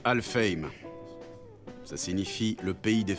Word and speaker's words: Alfheim: Alphaim Online? Ça doit se prononcer Alfheim.